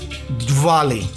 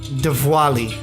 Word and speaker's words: Diwali: Diwali. Diwali. It's pronounced with a V, but it's a W. Diwali. A little bit of both, actually. Diwali.